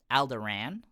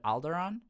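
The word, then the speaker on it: Alderaan: uh Chief like bodyguard he pronounces it as alderan instead of alderon and that did that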